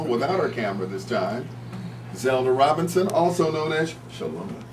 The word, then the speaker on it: Zelda: So to help the listeners understand or pronounce my name, he would say Zelda. And I was like, Richard, why do you say that? He said, because a lot of times people don't get the D, they hear the M.